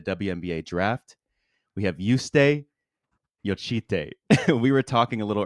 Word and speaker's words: Jocytė: But like the last name, I understand that, like, for Americans especially, it's really hard, but it's pronounced Jocytė.